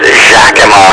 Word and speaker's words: Yakima: in washington state so the pronunciation of yakima which i think was originally an indian name is now being pronounced as a spaniard or mexico would pronounce it the other one